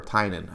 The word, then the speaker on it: Tynion: You've got people like James Tynion IV, or Tynan, I believe is how you pronounce it.